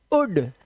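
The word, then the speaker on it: would: ओ यू एल डी जब भी लिखा हो वर्ड के लास्ट में तो इससे एल साइलेंट होता है। ध्यान रखना इसका। तो इसको क्या पढ़ना है? उड वुड।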